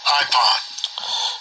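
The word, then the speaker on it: εἶπον: It says, he said, and that comes from IPON, EIPON 2036, this word. Strong's G 2036, IPON. IPON.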